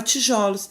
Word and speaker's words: tijolos: nós empregamos no plural, o som fechado O da sílaba pronunciada com mais força transforma-se num som aberto e vira O. É o caso, por exemplo, do substantivo tijolo, né? É mais fechado, O fechado, cujo plural é tijolos.